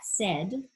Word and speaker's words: said: I will say that, because sometimes, you just have to know that said, even though it sounds like S-E-D, is spelled S-A-I-D.